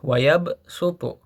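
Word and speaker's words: يبصط: Wayab sutu ya. Di situ tertulis dengan huruf shad ya, yab suu, ya ba, shad, dan th. Tetapi kita membacanya dengan huruf sin bukan dengan huruf shad ya.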